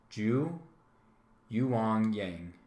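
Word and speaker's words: Zhu Yuanzhang: was and this is kind of tough to pronounce so let's pay attention to this all right ju you wang yang all right yu so jew was born in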